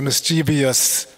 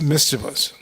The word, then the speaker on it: mischievous: A lot of people say mischievous. It's mischievous. And the reason why I'm pointing it out, because it appears in many purports in this section. So we should try to pronounce it correctly. There's no I after the V. People say mischievous. That's my point. There's no I after the V. It's mischievous.